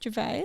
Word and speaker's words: Gervais: We've got Ricky Gervais.